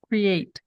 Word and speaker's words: create: vai ficar assim ó cre at Create uma barrinha aqui até como diz o o Marcos Create Create duas sílabas Create né outro aqui ó